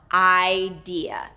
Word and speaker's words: idea: I-deeu. The next one is necessary. There's actually 2 stress syllables in this one.